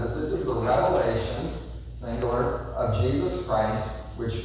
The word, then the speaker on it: Revelation: us to all know there's no s and I heard some people say it right he wrote the book called Revelation and somehow people like to say Revelations that's not what the book is called the last book of